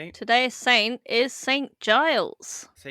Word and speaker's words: Giles: But I always say it guiles. Oh my god. Oh my god. It's definitely Giles.